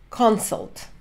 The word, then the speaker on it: consult: Из этого сделали consult. Consult. Хочу обратить ваше внимание. Есть глагол, который пишется точно так же. To consult. Ударение на последний слог. Существительное сокращенное. В сокращенном существительном ударение на первый слог.